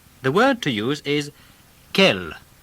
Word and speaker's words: quel: word to use is kel q u e l kell it's spelt q u e l in the masculine and the feminine ends in double le but they're pronounced exactly the same listen to these examples